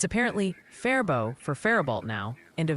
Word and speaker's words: Faribault: Oh, and the Minnesota Pronunciation Squad has an urgent update. It's apparently Faribault for Faribault now, and a very clear Freeborn for Freeborn.